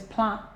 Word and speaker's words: plumb: have is ah so you don't say Pro yes plum there's no o here you have a instead and the B is signed so what you have